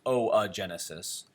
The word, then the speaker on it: oogenesis: I know it says oogenesis, but it's pronounced o-a, so it's oogenesis.